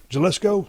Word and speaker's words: Jalisco: Oh, an Jalisco? H? Jalisco. But it's pronounced, but it's spelled with a J.